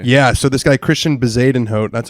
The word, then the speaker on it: Bezuidenhout: Yeah, so this guy Christian Bezadenhout, that's how it's pronounced. Bezadenhout.